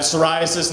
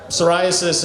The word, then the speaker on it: psoriasis: Uh the the psoriasis, it's spelled it starts with a P. It starts with the letter P. The P is silent.